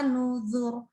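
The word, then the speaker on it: نُذُرِ: Adzabi wa nuzur. Nah, ini bacanya aslinya tuh nuzuri. Nah, gitu ya. Tapi ada ya-nya dibuang. Akhirnya jadinya nuzur. Maka boleh dibaca tipis adzabi wa nuzur tipis atau wa nuzur tebal.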